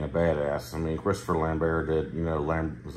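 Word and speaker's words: Lambert: badass I mean Christopher lambar did you know lamb was it lambar lambar lamber whatever he's French so it's not lamb BT like everybody says it it's some kind of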